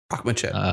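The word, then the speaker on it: Akhmechet: Akhmachet, yep. Yeah, Akhmachet.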